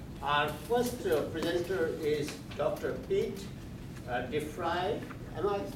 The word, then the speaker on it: Deprie: Pete Deprie. Am I pronouncing it?